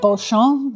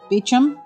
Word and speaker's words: Beauchamp: I'd call it Beauchamp, but I think it's actually pronounced Beecham.